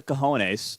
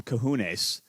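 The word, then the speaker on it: cojones: Someone's got the coahones. I think he called him kahones, but you know, kahones would be I think the proper pronunciation of this.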